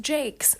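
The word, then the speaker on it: Jacques: We also have coming up on the podcast Rebecca by Daphne du Maurier, and then Redwall by Brian Jakes. It is pronounced Jakes, I know.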